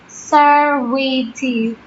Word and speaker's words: serviette: The next word is napkin, and in British it's said as serviette. So you should split it like sir, re, te, serviette.